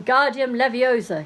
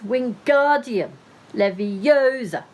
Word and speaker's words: Wingardium Leviosa: much more luck when Guardium Leviosa he shouted waving his long arms like a windmill you're saying it wrong Harry heard Hermione snap its Wingardium Leviosa make the GAR nice and long you do it then